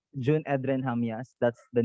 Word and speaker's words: Jamias: tulisannya Jun Edren Jamias, tapi Yes. untuk bacanya Jun Edren Hamias, right?